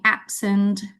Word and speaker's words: absent: Ini kalau adjectives juga stressnya occurs the first syllable. Misalnya absent.